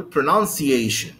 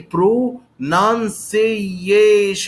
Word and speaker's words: pronunciation: be the most prominent i do not say pro non seize and uh if you